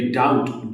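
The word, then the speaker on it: doubt: Similarly डाउट डाउट में B silent है।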